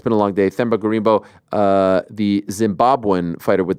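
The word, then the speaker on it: Gorimbo: replacing him is themba gambo um did I butcher his name I might have butchered his name is it themba gimbo thba gimbo gimbo why did I say gambo uh it's been a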